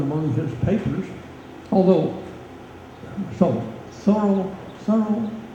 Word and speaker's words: Thoreau: variations with each experience thorough your family name put the emphasis on the first Syle syllable as in the adjective thorough did it not at